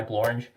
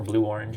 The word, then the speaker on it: Blue Orange: by sabrina miramon and published by blorange or blue orange if you want to say it properly uh we'll put it